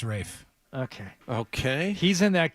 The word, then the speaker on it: Ralph: it Rafe is it Rafe fines yes it's pronounced Rafe okay okay he's in that conclave movie which